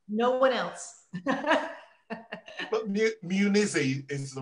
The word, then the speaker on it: Munizzi: So Martha Munizzi, how many people get that surname wrong? Everybody except for people in Europe. They usually get it right. Oh, so, wow. Pronounces it correctly. No one else. But Munizzi is the right way, isn't it?